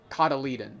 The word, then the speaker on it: cotyledon: Cotyledon, that's how you say it.